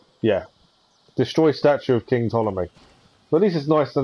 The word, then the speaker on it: Ptolemy: destroy statue of king ptolemy well this is nice to now know how to pronounce it ptolemy not ptolemy follow me okay i'm